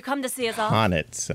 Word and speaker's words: H'aanit: Honnet. Okay, that's how you pronounce her name.